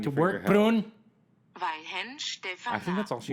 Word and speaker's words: Weihenstephaner: Weihenstephaner. That is how we pronounce the beer.